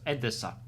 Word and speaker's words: Odessa: Ukraine city Odessa because that city is called pronounced as Adessa.